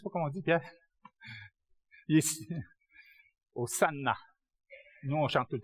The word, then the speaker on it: Hosanna: est rendu en français Hosanna. En passant, il n'y a pas de Z en grec. Le S se prononce ça. Comment on dit Sili? Je ne sais pas comment on dit, Pierre. Hosanna.